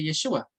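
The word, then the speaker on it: ישוע: Se pronuncia así en arameo, pero o sea, en hebreo, perdón, y en arameo se pronuncia Yeshua.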